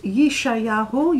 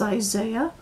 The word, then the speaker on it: Yeshayahu: duality in fact the Prophet Yeshayahu you pronounced that incorrectly as Isaiah in his book in